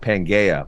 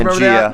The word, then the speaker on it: Pangaea: It's pronounced you guys Pangea. Remember that? It's pronounced all Pangea. The landmass was in one part, Christian. I don't know if you know this. Okay, yeah, but it's not called Pangaea. It's called Pangea.